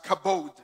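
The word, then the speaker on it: כָּבוֹד: the word for glory in the hebrew is kabod right it's pronounced as kabode there you go right kabod yeah but is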